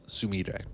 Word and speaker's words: Sumire: Oh, and by the way, also, before you go on, it's Sumire. I fucked that up for that, because I was I English her first name, and then I pronounced the last name correctly.